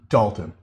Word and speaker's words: Dalton: Thank you for the correction in pronouncing his name, as I've been calling him Dalton for the longest time. It's Dalton.